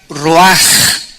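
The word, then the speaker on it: רוח: es la palabra hebrea Roach que se pronuncia raj la ch en el hebreo se pronuncia como j y que es la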